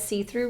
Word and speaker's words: C-Thru: My favorite ruler to use is the red see-through ruler. Like the brand, it's called See-Through, and it's spelled C-THRU, see-through.